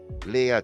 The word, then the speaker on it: Leah: to pronounce that Leah of course Leah two syllables let's tip hold your